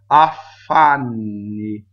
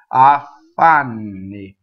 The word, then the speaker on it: affanni: Okay, so now we have affanni. Double F. Affanni. Affanni. Not affanni. No, stop. See, so double F, double V, double B, they do not stop phonation, right?